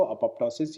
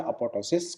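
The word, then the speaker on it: apoptosis: एक पी कई जने साइलेंट लेते हैं, एक पी कई जने इसको बोलते हैं। तो दोनों चीज़ें वैलिड है कि अपोप्टोसिस बोले या अपोप्टोसिस बोले, दोनों चीज़ें एक ही है।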